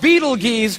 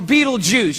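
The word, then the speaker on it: Betelgeuse: heard about this star it's called beetle geese or beetlejuice you can pick your pronunciation i'm obviously going with beetlejuice and beetlejuice is incredible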